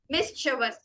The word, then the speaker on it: mischievous: Split the word into 3. First of the MIS is miss, then CHIE is actually read as cha. She ella, it's cha. VOUS is read as was. So mischievous.